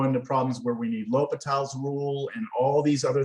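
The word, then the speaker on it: L'Hôpital: you remember doing it l'hopital it's spelt like this it's felt like the hospital or patel's rule sir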